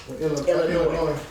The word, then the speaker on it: Illinois: I talked to a girl from Illinois, around Chicago area. The S is silent. And the S is silent. FYI. Illinois.